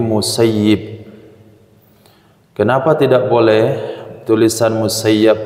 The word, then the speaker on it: Musayyib: baca dalam Kitab Hadis tulisannya itu musayyab tapi para masikh para ulama hadis mengajarkan Bacanya jangan musayyab tapi musayyib Kenapa tidak boleh tulisan